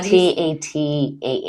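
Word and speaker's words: Tatah: And who knows if it's actually, you know, how I pronounce everything like my she was saying like tata like goodbye like tata for now.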